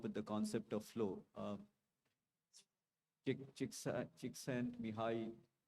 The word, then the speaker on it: Csikszentmihalyi: Csikszentmihalyi, she sent me high, right?